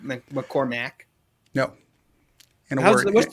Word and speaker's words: McCormack: yeah, this is McCormack. Is that it? Yeah. McCormack. Get right by it. And it kind of counts, I guess. Because everybody pronounces it McCormick.